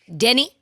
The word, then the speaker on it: Deni: Denny.